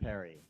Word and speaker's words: Phiri: But just to help you understand it, it's H-E-R-I, P-R-I, pronounced like Perry. So not Phiri, but Perry.